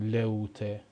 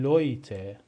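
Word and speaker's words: Leute: او با هم اومده نمی‌خونیم لئوته می‌خونیم لویته صدای اوی میده لویته به معنی مردم و حرف بعدی حرف آی املت و او هستش.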